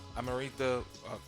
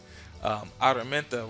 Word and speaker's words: Araminta: All of these Noah, Moses, Harriet Tubman, or Amarita. Man, messing up. Let me say it right. Araminta Ross.